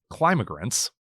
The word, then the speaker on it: climigrants: Whether quickly or slowly, climigrants, Keenan pronounces the word with emphasis on the first syllable, will continue arriving in Duluth.